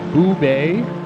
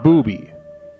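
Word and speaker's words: Boobé: e's correct so and why isn't that pronounced booby well it could be okay but there's an international accent mark on the last e oh it's dark I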